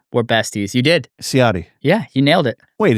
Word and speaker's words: Ciotti: Ciotti.